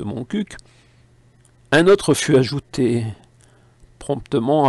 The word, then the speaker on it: Montcuq: Comme il convient de prononcer le Q de Montcuq, un autre fut ajouté, promptement abrégé par ma plume aux idées humoristico-impertinentes, en Montcuq en QB.